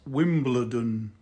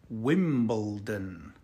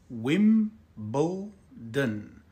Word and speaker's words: Wimbledon: pronouncing this word correctly it is not Wimbledon it is Wimbledon wimbo din Wimbledon repeat after me Wimbledon Wimbledon